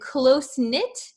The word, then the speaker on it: close-knit: And closeknit. Closen-knit. Uh please don't pronounce the K here.